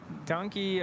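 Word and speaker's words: danke: fun year ahead amigo donkey Armand really appreciate it that means a lot like how do you say how do you spell that in in Afrikaans it's d-a-n-k-e pronounced donkey I'm like is it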